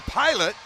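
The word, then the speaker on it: Pilut: Well, that'll be P-Light in the penalty box, better known as Pilot. You know, here's the thing. It's spelled P-I-L-U-T. P-I, Pi, L-U-T, Lut. So simple, Pilot. I don't know how they get P-Light out of that.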